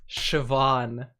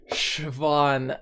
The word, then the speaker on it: Siobhan: Siobhan.